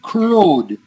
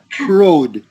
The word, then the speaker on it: crowed: Now, the word crowed. Let's see, that's in verse 60. Yeah, there it is. Yeah. See, the W is silent. Crowed.